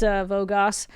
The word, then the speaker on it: Vogos: The guy's name rhymes with Mogos. Ah, I say that. Mogos! It's Vogos.